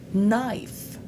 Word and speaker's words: knife: Mais parfois vous voyez la lettre K dans certains mots mais elle se prononce pas. C'est comme dans no. Knife le couteau ni le